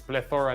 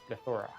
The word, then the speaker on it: plethora: I don't I put in my The problem is I put the empasis in the wrong syllable. So that's why Oh, okay. Okay. It's plethora not Yeah. I said plethora and it's plethora.